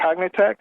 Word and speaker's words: Cognitect: I have um you're working at as a cognitech is that how you pronounce it that's right right and and you're